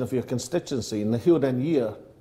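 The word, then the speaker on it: Na h-Eileanan an Iar: then firstly did that did I get the pronunciation of your constituency in the hill den year correct nearly a year absolutely correct I like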